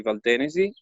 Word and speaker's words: Valtenesi: And the DOC we are selling with is Valtenesi, or Valtenesi, but in Italian we would say Valtenesi, which is I've been pronouncing it wrong the whole time, huh?